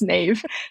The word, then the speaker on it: Niamh: Yeah, it's my initials because my name is spelled Niamh, and that would just be terrible for business because it's pronounced Neve.